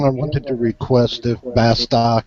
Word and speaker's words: Bast: Bast yeah Bast remember she was uh very she was very adamant about pronouncing that last T and I found out why because the last T is makes her name feminine without the the T it's masculine so that is why